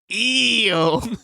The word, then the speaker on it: Io: Io, or it's pronounced EO.